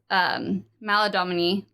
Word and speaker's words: Maladomini: So the next layer down is Maladomini.